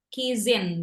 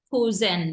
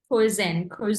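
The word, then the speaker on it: cousin: So the way you speak that one, the way you pronounce that one, not Kizin. Tadi ada yang bilang Kizin, not Kizin, but Kuzen, ya. Kuzen.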